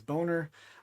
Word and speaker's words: Boner: Prude Maddie ALLin will pronounce it Boehner, but it is Boner.